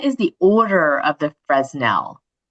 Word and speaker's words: Fresnel: the order of the Fresnel? Okay, I'm going to jump in and say the guy was French, so we it's Fresnel is the proper pronunciation.